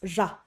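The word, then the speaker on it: ར: There are 2 primary ways to pronounce the Tibetan letter ja, which is often transliterated into English as the letter R. The first is primarily used in central dialect and Shichak dialects, which is ja, ja.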